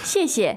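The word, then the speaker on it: 谢谢: 谢谢，谢谢. 谢谢。 Now, you never just say 谢. I don't know why. You always double it in Chinese.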